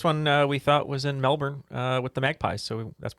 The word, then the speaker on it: Melbourne: So Melbourne for the Collingwood Magpies is correct. Appreciate JP's correct pronunciation.